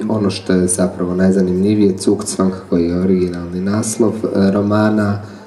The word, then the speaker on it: Zugzwang: Well, to go to Zugzwang, as generally told it's pronounced, it's a term in chess, and it means that whatever move you make only makes your position worse.